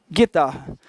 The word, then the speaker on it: guitarra: Esse G e esse U aqui, o U não é pronunciado.